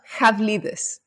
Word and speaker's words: Havlidis: pronounced, but it's Dimitri Havlidis? It's pronounced Havlidis. So very, very close. It. Yeah, it's a Greek name.